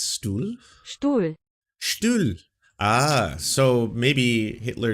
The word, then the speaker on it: Stuhl: Stuhl.